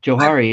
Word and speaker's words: Johari: the Johari window are you talking about the Jahari window like in like like what's known to me or and what's known to others and the facade and things like that Johari is it's it's spelled j-o-h-a-r-i it's a fascinating little Tool uh